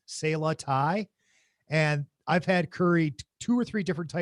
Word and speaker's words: Sala: they only accept cass i believe it's pronounced uh salah s-a-l-a sayla and i've had curry